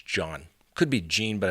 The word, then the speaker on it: Jean: John I believe it's John could be Gene but I believe it's pronounced John anyway he was an